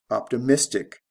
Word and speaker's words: optimistic: Optimistic. Again, we go from the first syllable to the third syllable. This is a stress change only.